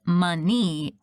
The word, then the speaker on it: Minnie: At everyone's confused faces, I explain even though the last part of my name is said money, it's spelled Minnie.